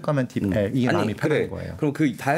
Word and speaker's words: DeepL: 딥풀이라고 발음하는 사람도 있는데 저는 딥엘이 맞지 않나라고 생각을 하고요.